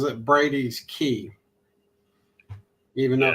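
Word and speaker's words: Brady's Cay: it's SP spelled c a y but he pronounces it Brady's key even though it's SP Cy yeah and I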